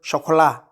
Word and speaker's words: Chocolat: article is from hotel Chocolat I think it's chocolate but in France they pronounce it chocola so Hotel Chocolat so